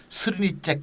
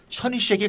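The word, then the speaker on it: Srnicek: 발음이 어려워요. 셔니쉑. 이분은 또 스르니잭 이렇게 하는 사람도 있는데 정확한 발음은 사실 셔니쉑에 가깝다고도 하더라고요.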